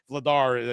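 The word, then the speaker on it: Vladař: it past Dan vladar vladar I keep mispronouncing his name I put the wrong emphasis on the wrong salel just think Dar Vader yeah you know exactly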